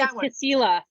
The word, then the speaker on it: Kasilof: Alaska is Kasilof. Kasilof. That's Kasilof, not how Alaska. I would pronounce that.